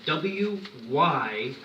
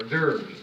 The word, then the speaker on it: wyrm: old word for dragon, which is spelled W-Y-R-M, and it said wyrm, or virm, but it means worm, and it's an old term for a dragon.